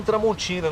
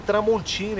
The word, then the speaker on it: Tramontina: E ele estava com um facão Tramontina. Na hora que ele falou, esse é meu facão, ele pronunciou Tramontina, igual a gente fala no Brasil, e não Tramontina.